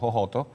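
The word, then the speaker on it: Jojoto: my own place called hohoto and it's been one more time with the name oh yeah well it's spelled j-o-j-o-t-o but we don't say a j we say it so it's ho yes and that's why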